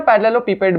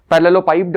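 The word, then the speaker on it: parallelepiped: इसे कहीं कहीं ना पैरेललोपिपेड भी बोलते हैं, 2 प्रोनाउंसिएशन, ठीक है? पैरेललोपाइप्ड, पैरेललोपिपेड।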